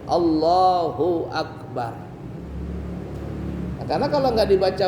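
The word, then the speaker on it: الله: dilakukan sama orang kita Apa itu memanjangkan kalimat Allah a kalimat pernah dengar orang seperti itu Allah Allah Allah itu nggak boleh panjang kalau Hamzah itu dipanjangkan jadi bacanya maka itu berubah menjadi artinya Apakah Allah Apakah Allah jadinya jadi nggak boleh yang ada tasydid Allah Allah tidak boleh Allah nggak boleh begitu bacaannya baik yang jadi makmum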